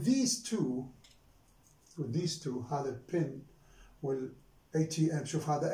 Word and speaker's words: ATM: But you see here with these two, هذا pin will ATM. شوف هذا ATM, I pronounce it as separately.